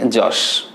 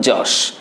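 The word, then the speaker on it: Yaas: এটির নাম দেওয়া হয়েছে যশ। ইট হ্যাজ বিন নেমড যশ। এই যশ বানানে কিন্তু এখানে যে ওয়াইটা কিন্তু জ সাউন্ড উচ্চারণ হয়, যে কারণে ওয়াইটাকে দিয়ে আমরা জ সাউন্ড অর্থে ব্যবহার করতে পারি এখানে।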